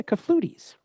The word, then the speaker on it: clafoutis: It doesn't even sound like French.